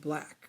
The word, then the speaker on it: 6LACK: This one I'm jumping back to a release in 2016 by the artist Black, which is spelled out / stylized as 6LACK.